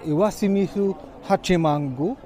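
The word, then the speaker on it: 石清水八幡宮: Since we enjoyed our time so much in Iwashimizu Hachimangu - Did I say it right?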